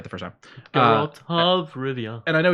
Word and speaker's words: Geralt: Geralt. So I had it right the first time. Geralt of Rivia.